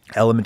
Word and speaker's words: LMNT: Element is spelled LMNT.